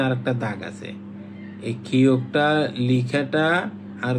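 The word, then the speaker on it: 키읔: তারপর হচ্ছে খিওক। খিওক, খ এবং ক। এই যে খিওক, এটা গ এর মতো, শুধু মাঝখানে আর একটা দাগ আছে। এই খিওকটা লিখাটা আর গ লিখাটা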